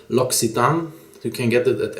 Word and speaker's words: L'Occitane: lucid uh and now i know the correct pronunciation it's l'occitane you can get it at any l'occitan shop